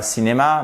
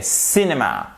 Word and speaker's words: cinema: And going to the, et on dit pas cinéma, mais cinéma. Vous le savez en anglais, c'est pour ça que je vous mets la phonétique. Tout mot qui a 2 syllabes ou plus a une de ces syllabes qui est accentuée. En l'occurrence ici, vous l'avez compris et aussi, je l'espère, entendu, il s'agit de la première, cinéma.